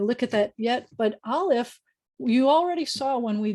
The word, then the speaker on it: Aleph: Try saying Aleph, and you'll see that before you get to the ah, there is a sound, Aleph. There's a closing and opening, and it's a very quiet thing, but your voice is, your mouth is doing a something.